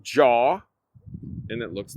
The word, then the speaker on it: Jaw: Jaw. Jaw? So, it's like the movie Jaws without the S. Got it. Jaw. Like like people jawing at you.